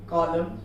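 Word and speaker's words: column: जैसे autumn, कॉलम, कॉन्डेम, ये हो गया सॉलम, ये सारी चीजें के एंडिंग में यहाँ पर देखिए MN आया हुआ है, वहां पर उसे N को साइलेंट करना है।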